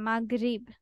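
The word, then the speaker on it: Maghrib: ইংলিশে দিচ্ছি জিএইচ মাগ মাগরিব হ্যাঁ আমরা এইটাকে উচ্চারণ করি এইভাবে মাগরিব তো এই মাগ লাস্টে গ গ ওকে ইয়েস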